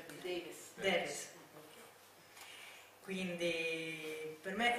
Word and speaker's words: Davis: Davis, come si pronuncia qui? Davis.